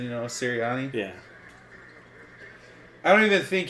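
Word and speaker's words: Sirianni: I don't even think how do you say the coach's name Nick serani serani I was going to put a t in there for some reason Tino or something you know serani yeah I don't even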